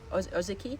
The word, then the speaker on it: Ozeki: Did you ever read My Year of Meat by Ruth Ozeki? I might have said it wrong. Ozeki.